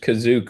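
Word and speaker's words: Kashyyyk: So Kashik was pronounced Kazuk all along and we've been saying it wrong.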